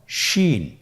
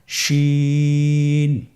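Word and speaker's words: شين: শিন। আপনারা আমার সাথে বলুন, শিন। আপনার ঠোঁটের অবস্থান কীরূপ হবে আপনারা লক্ষ্য করুন, শিন। আবার বলুন, শিন।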